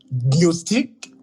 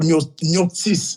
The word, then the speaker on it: gnostiques: Parce que les gnostiques, ça dépend des prononciations. D'autres vont prononcer les gnostiques ou gnostis.